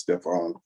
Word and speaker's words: Stephan: Well, most people pronounce it Stephen, but it's really pronounced Stefan.